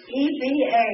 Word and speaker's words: Eva: My mother's parents' name was E-V-A. They pronounced it Eva.